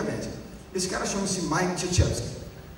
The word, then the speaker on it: Krzyzewski: Se escreve com uma série de consoantes de origem polonesa, não tem nenhuma vogal na história, eu não conseguiria ler se eu não tivesse ouvido o nome do cara.